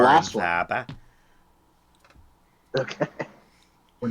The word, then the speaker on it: Faber: Oh, Am I putting the first R in there? Is that Faba. what happens? You don't put any R in it.